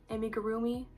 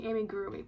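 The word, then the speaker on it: amigurumi: I don't do amig amigarroomi. Amigarroomi. I think that's how you say it. I've been saying amigroomi, but I don't think that's right.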